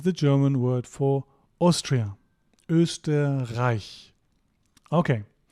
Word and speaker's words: Österreich: Österreich. Okay. It's not pronounced A, it's pronounced I. Very very common mistake.